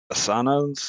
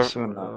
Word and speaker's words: Asuna: it's one of Asana's. I think that's how you pronounce the name. I think that's one of her friends. Asuna? Yeah, Her, Asuna. That's how you pronounce it.